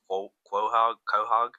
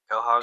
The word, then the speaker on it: Quahog: Quahog? Help me out. Quahog? Quahog.